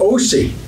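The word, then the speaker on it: koi: And it's called Osi. The fish is spelled O-K-I.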